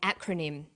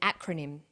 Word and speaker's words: acronym: This form of abbreviation is called an acronym. With an acronym, we don't pronounce the individual letters, we pronounce it as a word. So we say IELTS, not IELTS.